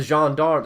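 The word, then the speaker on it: gendarmes: murdered in plain sight the Jean dogs that's how you pronounce it by the way the jean-darms are the are the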